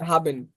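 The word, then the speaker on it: haben: যেটা বললেন এই যে হাবেন এ দেখেন এই হাবেন হাবেন হাবেন হাবেন মানে আছে এই যে দেখেন এইচটা আবার এইচটা এখানে হা উচ্চারণ আছে হাবেন আবার এখানে ইয়া ইয়া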